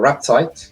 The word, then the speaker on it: Raptite: Yeah, and then we're going to see Adamantipator Rapetite. Or Raptite. I think it's Rapetite.